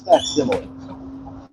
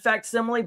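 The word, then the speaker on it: facsimile: It's fact simile. Fact simile. Okay. So I have been saying it right. It just feels so wrong. All right. There are some words that you some you've never heard. Like I have read it and I always said faximile but I've never actually heard it being said.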